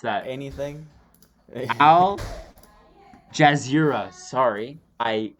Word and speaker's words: Al Jazeera: done okay so uh here's an article from algiers sorry i totally mispronounced that anything al jazeera sorry i mispronounced that um but uh bubonic